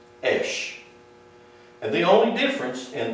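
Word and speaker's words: אִישׁ: This is pronounced esh. This is pronounced esh.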